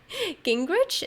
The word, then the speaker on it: Gingrich: names for the article I'm Steph Gingrich is how you pronounce it actually the brains of